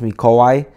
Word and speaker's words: Mikołaj: My name is Mikolaj. I forgot to introduce myself. Actually, it's pronounced Mikołaj in my native language, which is Polish.